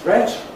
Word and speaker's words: threat: Great is great, rhymes with state. Threat is threat rhymes with wet. Meat is meat rhymes with your feet.